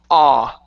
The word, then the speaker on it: all: my mouth extremely wide, it's best to do that for you to kind of over-exaggerate opening the mouth and pronouncing that ah. Okay, it'll help you. It'll help get that ah instead of oh.